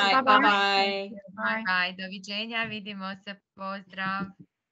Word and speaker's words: Vidimo se: Vidimo se. Vidimo se. Excellent. Excellent. It's similar to Danish. Starts with we. Yeah. Thank you to everyone. Bye. Good Yes, night. bye-bye. Bye. Bye. Doviđenja. Vidimo se.